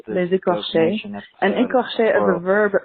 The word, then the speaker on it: Les Écorchés: Calling about the most The episode title is pronounced Les Écorchés, and écorché as a verb means to flay.